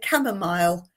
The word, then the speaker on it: chamomile: England, we say chamomile.